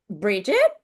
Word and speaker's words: Bridgette: Bridget?